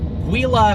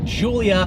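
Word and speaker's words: Giulia: offering from alfa romeo not called the wila quattroporte it is called the Julia quadrifoglio quadrifoglio actually means four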